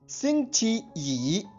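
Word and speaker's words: 星期一: Spelling एक बार फिर सुनिए, XINGQIYI। इसका ध्वनिवादन सुनिए, शिंगची यी, शिंगची यी, शिंगची यी।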